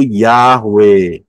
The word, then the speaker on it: Yahweh: kayak koma di atas Yod he wau he ya supaya gampang kita dengarnya dengan aksara alfabet Ya mengucapnya jelas yaitu yahwe karena hurufnya adalah Yod